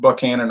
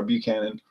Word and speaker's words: Buchanan: And I understand that Buchanan is, or Buckhannon, however it's spelled, pronounced Buckhannon or Buchanan, depends who you talk to on that.